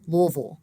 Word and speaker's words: Louisville: They actually say Louisville with two. And that's because that middle one is so unstressed as to be unimportant in its pronunciation.